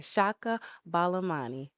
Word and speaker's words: Chaka Balamani: Chaka Balamani.